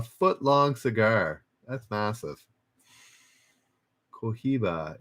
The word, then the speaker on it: Cohiba: Cohiba. It's pronounced. It was H pronounced like a J. Cohiba.